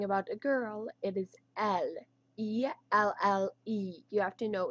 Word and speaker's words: elle: So it's spelled like E-L-L-E, but it's pronounced as L. So if you're talking about a girl, it is L.